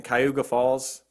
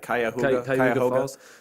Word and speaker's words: Cuyahoga Falls: All right, so Bob Berdella, he was born in Cayuga Falls. How do you say that? Cuyahoga Falls.